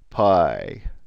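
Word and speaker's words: π: letter of course is the easiest letter in the Greek alphabet cuz it's easy as Pi here's Pi my lowercase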